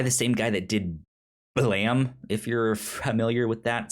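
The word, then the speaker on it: Blame!: uh it's by the same guy that did blam if you're familiar with that spelled b-l-a-m-e with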